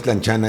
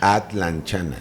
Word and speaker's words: atlanchana: Que por cierto, no es tlanchana, es atlanchana.